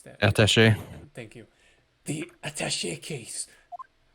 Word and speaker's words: attaché: How do I pronounce that? Attaché.